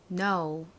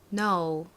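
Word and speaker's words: know: 쓰고 계시죠 자 k n 그리고 오 W 발음 같이 해볼게요 알다 no 한 번 더 따라해 보세요 no 좋습니다 자 이제 다음 단어 쓰러 가볼게요 다음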